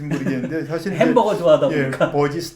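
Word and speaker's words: Burgess: 그거하고 관계가 저녁 연대는 시간에 어떻게 대해서 지금 버거스라고 발음하시는지 모르겠는데 사실 햄버거 좋아하다 보니까. 버지스 또는 버제스라고 발음하죠.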